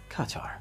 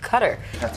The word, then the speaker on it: Qatar: Qatar Qatar Qatar Qatar Qatar cutter kataratqar But is that really the true pronunciation? The irony of it all cutter is actually closer to the official pronunciation.